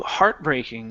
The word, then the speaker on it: heartbreaking: um let's go to heartbreaking the stress is at the very beginning was very heartbreaking to